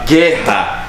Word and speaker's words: guerra: A gente tem que entender que na palavra guerra, o U não é pronunciado. E é por isso que é um dígrafo, e é por isso que só tem um fonema.